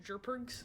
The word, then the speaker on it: JRPG: to Classic turn-based jrpgs it's pronounced jergs jergs digital eclipse made